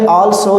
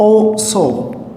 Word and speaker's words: also: Students ऐसे pronunciation इसका करते हैं कि आल्सो, ये आल्सो नहीं होता. This is called ओ सो. ओ सो. This is called wrong pronunciation. It will B ओ सो.